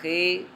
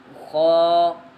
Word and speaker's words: خ: لہجے میں ادا کریں، اردو تلفظ سے پرہیز کریں، یعنی بے، تے، سے، حے، خے، طے، غے وغیرہ ہرگز نہ پڑھیں، بلکہ با، تا، سا، حا، خا، طا، ظا پڑھیں۔ اس مثال کو ہم